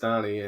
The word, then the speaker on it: Dani: So Dani, I've spelled Dani, pronounced Dani, and I've been doing this since the early days with Tom back at HP.